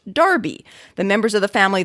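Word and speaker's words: Enroughty: a century universally spelled in rufty and universally pronounced darby the members of the family themselves follow the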